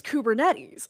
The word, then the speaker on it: Kubernetes: And I'm like, "It's Kubernetes." And he's like, "What?" And I'm like, "Yeah, it's pronounced."